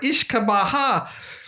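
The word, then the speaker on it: uisce beatha: Or Ishkabaha is an Irish Gaelic pronunciation and pronounced Oosh Kebe Ya for Scottish Gaelic.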